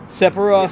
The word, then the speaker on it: Sephiroth: now behind also Sephiroth, I think that's the pronunciation, right? Sephiroth.